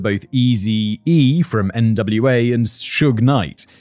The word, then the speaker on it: Suge Knight: He was also a childhood friend of both Eazy-E from NWA and Suge Knight, pronounced like the first syllable of sugar.